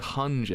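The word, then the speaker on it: Hange: the actual manga than it is actually how it's spelled? Because I know, because I always hear Hanja and it's actually spelled Hunger.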